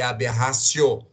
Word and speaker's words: aberratio: isso é chamado de aberratio ictus professor é aberration ou a de rácio se escreve aberratio mas a pronúncia correta em Latim é aberración o te tem som desse tá top raciocínios a diferença